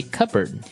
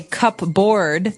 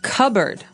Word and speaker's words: cupboard: All the silverware, we usually keep them in a cupboard. Okay. So, you might want to say cupboard because it's cup c u p b o a r d. That's not right. The word is pronounced cupboard.